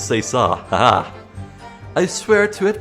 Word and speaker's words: c'est ça: I looked up how to pronounce it. It's c'est ça.